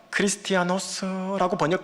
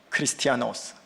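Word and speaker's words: Χριστιανός: 크리스티아노스라고 발음하면 맞아요. 그리스도인, 크리스티아노스.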